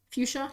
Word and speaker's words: fuchsia: flirty how do you say that word fuchsia fuchsia yeah there we go we're on there so